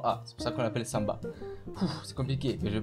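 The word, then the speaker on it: самбо: ça vous parle mais en russe ça se prononce samba s'inscrit Sambo avec un o donc les Français le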